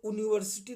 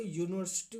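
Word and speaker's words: university: है इसलिए ए लगेगा यूनिवर्सिटी तो यूनिवर्सिटी नहीं बोलते यूनिवर्सिटी बोलते हैं या से आवाज़ शुरू होती है इसका मतलब होता है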